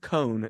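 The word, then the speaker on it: Cohn: one of those where you want to say it in a weird way like cone but it's just cone it's like ice cream cone so like the headb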